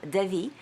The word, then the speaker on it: Davi: we heard today is Robert John Devi there is an accent on the e and you saw how